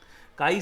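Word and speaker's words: χ: होती है आपकी काई इसे अपन काई से प्रोनाउंस करते हैं।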